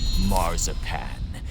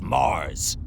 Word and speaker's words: Mars: you makes me sick it's not marzipan it's mars and it should be mars with an s i only changed it because it was easier for my brood to pronounce it this way now juno mocks